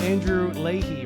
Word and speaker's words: Andrew Leahy: So, we're here with Andrew Ley, right? Am I pronouncing that right?